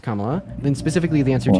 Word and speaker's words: Kamala: doing yeah so specifically her name's pronounced Kamala then specifically the answer